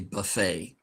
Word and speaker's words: buffet: In French, many times the last T is silent. So this is actually buffet.